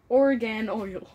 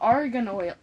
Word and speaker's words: argan: think why do you why are you pronouncing the O like an A or the a like an O I don't know sick Park and oil oh Argan Oil oh okay big